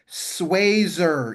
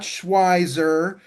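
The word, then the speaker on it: Schweser: Let's go to Kaplan Sazer. Yes, it's pronounced Sazer, not Schweiser.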